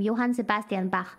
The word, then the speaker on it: Johann Sebastian Bach: Bach this is how you say his name Johann Sebastian Bach is widely considered one of the most influential